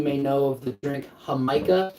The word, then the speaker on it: jamaica: a Hispanic you may know of the drink hamikah it's spelled Jamaica but it's pronounced H that is